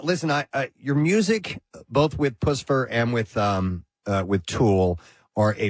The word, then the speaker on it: Puscifer: I've heard Puscifer, I've heard Puscifer, I've heard Puscifer, as in Lucifer. And do you prefer any particular way, Maynard? It's Puscifer, like Puss in Boots. Like Puss in Boots. It is Puscifer.